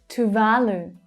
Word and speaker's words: Tuvalu: Tuvalu, Tuvalu. The second syllable is the strongest one, and they're all long vowel sounds. Tuvalu, Tuvalu.